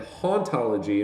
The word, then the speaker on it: hauntology: that way uh because we do pronounce the h where the french wouldn't and and and so